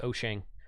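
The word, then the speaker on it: Wouxun: spelled walks on I I usually call it wax on but the product correct pronunciation is oshang or something similar to that that's as good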